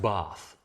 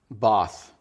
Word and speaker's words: Bath: It's pronounced Bath. Bath.